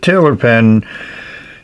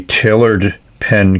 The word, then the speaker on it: Tailored Pen: And I probably pronounced it Tiller Pen and it should be Tailored Pen Company.